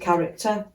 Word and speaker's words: character: Converted character following his contact with the organisation. So CNV RTD. Character, the H is silent, remember, so it's C, R, C and T doubles for R.